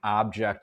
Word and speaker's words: object: If I ask you what the difference is between object and object, you'd say, well, in object, the first syllable is stressed, in an object, the second syllable is stressed.